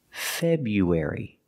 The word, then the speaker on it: February: like Wisconsin in February using the long you like you and few Feb U link the sound U after the B bu February now we have to link you air air like air and hair when we link you and air we have a sound in the middle it's like a w sound w w w w you wary febru February February let's talk about dates